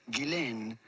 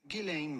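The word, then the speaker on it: Ghislaine: name more than anything which is of French origin and in French it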